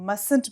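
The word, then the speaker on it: mustn't: हम इसको कंट्रैक्शन में मस्टंट भी बोलते हैं, although the spelling is MUSTN and T after the apostrophe, बट हम T साइलेंट होता है इसको नहीं बोलते हैं, हम बोलते हैं मस्टंट.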